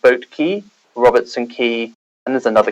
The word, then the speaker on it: Quay: is spelled qua y sorry not the American key which is spelled key y I didn't know that was special to all everyone yeah say I always wanted to call that Quay when I see it but I know that